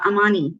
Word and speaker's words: amani: that came up was from swahili uh it's amani a-m-a-n-i uh so amani means a wish in swahili so she's our